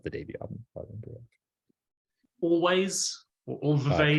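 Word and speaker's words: Alvvays: Or always. Correct. Yeah, it's pronounced always, but that's correct.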